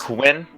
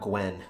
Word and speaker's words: Quinn: Glenn right Quinn yes Quinn its Quinn not Gwen Quinn Quinn like champion when yes how are